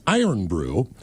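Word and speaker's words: Irn-Bru: Oh, the Scottish one is Iron Brew and E is pronounced kind of like N.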